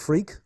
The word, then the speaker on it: Freke: a very funny name it really is pronounced freak but it's spelled fre ke it's an old English name and so if you google tim freak you will certainly find